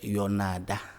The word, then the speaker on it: Yonada: lequel C'est Yonada. Pardon? Yonada. Yonada. Yonada. Yonada. Voilà. D'accord, Yonada. Oui. Yonada. Yonada. Yonada. Voilà. On prononce C'est comme la ça.